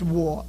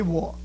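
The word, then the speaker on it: 我: And this is pronounced war. Everybody say war.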